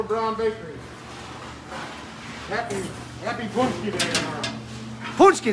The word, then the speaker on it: Paczki: bakery happy happy birthday ponsky that's how you say it also known as fat